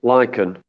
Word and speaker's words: lichen: actually really lucky because lycan well that's how it's pronounced lichen um is an